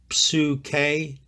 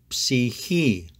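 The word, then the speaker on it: ψυχή: If there's a native speaker near you, please don't pronounce it like the Erasmian way, which is psuke. He or she won't understand what you are saying. The proper pronunciation is psihi. The first part of the word psychology comes from psihi.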